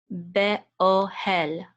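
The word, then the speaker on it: באהל: Be-o hel. Actually, the accent, the trope accent mark is over the aleph, over the o sound. So it's going to say be-ohel. It's not be-ohel, but be-ohel.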